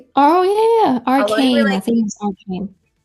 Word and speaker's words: Arcane: A lot of people told me that I should watch, sorry if I'm mispronouncing this. Arcade. Arcade. Arcade. Oh, yeah. Yeah. Arcade. Arcane.